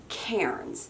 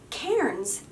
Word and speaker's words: cairns: these these are called Cairns and it's spelled like this see a I are NS but it's pronounced like the person's name Karen now Cairns are traditionally used as